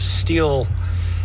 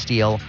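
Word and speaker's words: Stihl: had a steel and Steel by the way it's s-t-i-h-l that's the brand that you see s-t-i-h-l but it's pronounced steel and I had the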